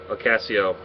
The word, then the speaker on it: Ocasio: night this is case number 764 uh Tracy Ocasio um did I pronounce that right Deborah yes you did okay